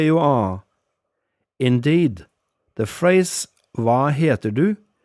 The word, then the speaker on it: hva heter du: Indeed, the phrase hva heter du may be pronounced more like hva heiter du in certain parts of the country.